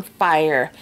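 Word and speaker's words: Fyre: shimmers i mean and this one is called um on fire and they spell it f-y-r-e but this is kind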